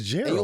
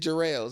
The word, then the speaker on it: Jarrells: know why yeah Geral oh it's jald we keep this in the podcast too yes we will so what what did I say you said jeral Geral round barrels I'm